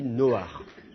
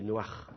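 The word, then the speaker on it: נֹחַ: En hébreu moderne, cela dit, on ne le prononce pas comme un petit A furtif, on le prononce comme un vrai A, comme si vous aviez deux voyelles, on dit Noach.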